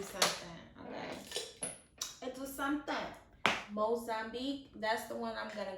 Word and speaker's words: Mozambique: Go in with the Zambique. I don't even think that's how you say it. It's Mozambique. Mozambique.